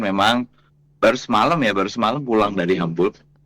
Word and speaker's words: Hamburg: Jadi kemarin memang baru semalam pulang dari Hamburg. Ternyata bacanya Hamburg bukan Hamburg. Oke, Jadi, Hamburg, oke. Iya, bahasa Jerman itu seperti bahasa Indonesia, hurufnya dibaca Baca. seperti hurufnya, Oke. bukan U dibaca A kayak bahasa Inggris.